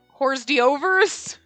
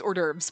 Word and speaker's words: hors d'oeuvres: to say hors d'oeuvres wait was it horse D overs is that how you would pronounce it when it was spelled out like I know it's hors d'oeuvres but like it's one